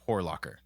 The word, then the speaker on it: Horlocker: But also it's got an Lacher at the end, which is Latcher. But nope, it's Locker.